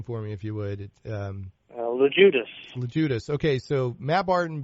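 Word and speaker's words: Loguidice: Okay, so you and Bill, and pronounce Bill's last name for me if you would. LeJudas.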